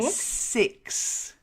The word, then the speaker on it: six: well done and then six the number six six make sure you get that e sound six otherwise you're saying sex and people will go what okay so six e